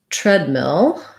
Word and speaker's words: treadmill: he was asking about treadmill so treadmill has first syllable stress the ea interred has the f vowel so tread and red are rhyming words and so in fact